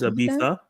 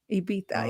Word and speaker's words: Ibiza: They pronounce the Z like a TH, more of a TH sound. Oh, it's Ibiza? Ibiza, yeah.